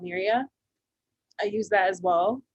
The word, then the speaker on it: Miiriya: It's called Miria. I use that as well. Say the name again if you don't mind. Miria. So it's Miiriya. Okay.